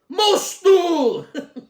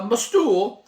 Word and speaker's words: MOSTOOL: so on the front how do you pronounce that must do most stool uh it's just a lightning bolt in the O so you've got to really pronounce that sucker and it's the m6